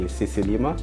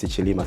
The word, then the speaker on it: Sicilima: Yeah, you know, because most people usually say Sicilima. Yeah. And you're one of the few who actually says Sicilima.